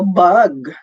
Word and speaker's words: bug: Okay, pag bag pala, pag B-A-G, dapat bag. Pagka-insekto, bug, B-U-G.